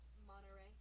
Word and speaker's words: Monterey: Monterey. It's so funny how we don't pronounce the T.